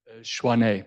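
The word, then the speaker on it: Tshwane: At Schwan, do you pronounce Schwan? Schwane.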